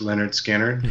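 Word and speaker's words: Lynyrd Skynyrd: fan and like uh it's pronounced Leonard skinnard you know that big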